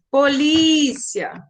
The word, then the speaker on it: polícia: Elas têm a penúltima sílaba mais forte, ó. Colégio, né? Se estende o lé. Polícia, o li se estende. Então, essas sílabas são as mais fortes.